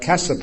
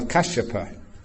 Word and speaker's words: Kassapa: Or like Kassapa or Kashyapa for the previous Buddha. Slightly different, but not much.